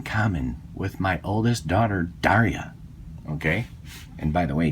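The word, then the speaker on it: Darja: Now, this particular Bulgarian Makarov has a lot in common with my oldest daughter, Daria. Okay? And by the way, Daria is spelled D-A-R-J-A, just like the European spelling.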